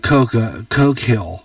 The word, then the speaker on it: Coquille: It sounds like Coke Hill. Okay, Coke Hill, when you pronounce it.